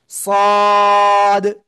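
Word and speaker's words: ص: জিহ্বার আগা, সামনের নিচের দুই দাঁতের পেটও আগার সাথে লাগবে, লাগিয়ে মোটা আওয়াজে পড়তে হবে। সদ, সদ।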